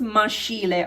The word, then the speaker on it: maschile: I made this scheme for you so that you will see on this side maschile. So we call masculine maschile. Don't pronounce maschile, okay? Because SCH is sk, okay?